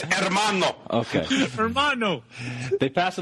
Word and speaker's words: hermano: you my filthy little Hermano they pass a you don't pronounce the h it's hermano okay Hermano they pass